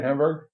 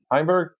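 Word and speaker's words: Heimburg: I want to say Hamburg. How do you say his name again? Heimberg.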